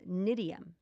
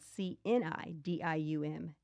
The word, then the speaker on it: cnidium: So we have things like something called cnidium, and that's spelled Cnidium, cnidium, and tongat ali.